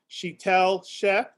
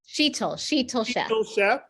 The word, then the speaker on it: Sheetal Sheth: Sheetal Sheth. Sheetal Sheth. Yes. We got to make sure we pronounce that right.